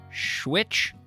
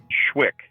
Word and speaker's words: Schwick: Am I pronouncing it right if I say Schwitch? Schwick. The CH at the end, you don't make that, because I liked Schwitch, as in Territon smokers would rather fight than Schwitch.